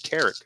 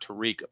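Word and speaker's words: Tarik: Is it Tarek? I think it's Tarek Skubal. Not Tariq, but Tarek. Like rhyming with Derek.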